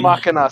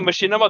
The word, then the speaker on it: Machina: Machina, sorry. Vox Machina. That's Apologies. a fakey move, Machinima. Yeah, no, that was my Oh, bad. The thing is, I was God. pronouncing it Machinima the whole time until I think Raven corrected